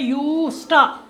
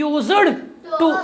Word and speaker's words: used to: Word है modal verb, इसकी आवाज़ है यूज्ड, ना कि यूज्ड टू। यूज्ड टू नहीं, वो हम गलत तलफ़ुज़ इसका निकालते हैं, रॉन्गली प्रोनाउंस करते हैं। तो मैंने स्पेलिंग से भी ये लिखा, अगर इससे समझ नहीं आएगा मैंने लिखा YUSTA, यूज्ड।